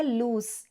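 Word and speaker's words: loose: pronunciation पे ध्यान दीजिए जो डबल ओ है यह लूस इसको स से प्रोनाउंस करते हैं और जो सिंगल ओ से लूज होता है उसको हम ज से प्रोनाउंस करते हैं लूज लूज एक एडजेक्टिव होता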